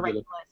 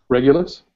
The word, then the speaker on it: Regulus: So, that's the bright star regul. Um, did I pronounce that right? Regulus.